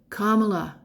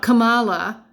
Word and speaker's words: Kamala: that is kamla Harris commala not Kamala y and I'm sure